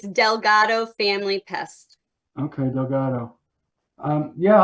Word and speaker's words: Delgado: Is that how it's pronounced? Yes, it's Delgado Family Pest.